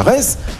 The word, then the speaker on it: Reims: Les amis, match suivant, match numéro 13, on va partir à Reims. Rennes, il faut bien le prononcer puisque c'est presque pareil, mais ce n'est pas pareil. Ça ressemble, mais ce n'est pas pareil. Rennes qui va se déplacer